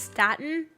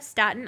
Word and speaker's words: Staten: of queens or uh is it pronounced statin is that how i say it aydah staten island because yeah i saw a